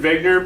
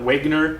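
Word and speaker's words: Wegener: continental drift and yes it's alfred wegner not wagner you'll hear some people on some videos that i have posted for you call him wagner because there's a w here but he's german and in german there's no w sound the w makes a v sound in german his name is alfred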